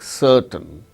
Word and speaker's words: certain: The word ending r is not pronounced, and before a consonant sound also it is not pronounced, like certain, CERTAIN. R is followed by T, a consonant sound T. So, in such case r is not pronounced, certain.